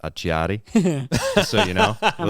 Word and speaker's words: Acciari: So credit to Martin and Achari too for willing to do that, especially coming back from an injury. That was a fantastic answer, Ed. Yeah, I actually think it's pronounced Acciari.